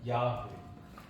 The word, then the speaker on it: 야훼: 히브리식 발음으로 하면 야훼, 영어식 발음으로 하면 여호와.